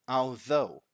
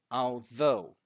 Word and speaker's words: although: although can say that although this might be a bit tricky for some students but I made so because of the th right the voiced th is what we've got here but I made two